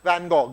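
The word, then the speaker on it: Van Gogh: F as they tell me you should be van go you know f as they say you should be pronounced and I I fell in love I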